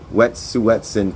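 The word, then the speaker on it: Wet'suwet'en: repeatedly by the Canadian government to to criminalize wet suetsen people whose land Canada claims to be quote in the way of lucrative gas and oil pipelines.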